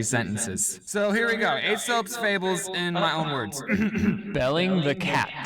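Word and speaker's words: Aesop: These aren't I'm not going to read them how ASOP wrote them though because I want to be clear, he's trying to make this funny, right? So he purposely said his name wrong. It's technically Asop.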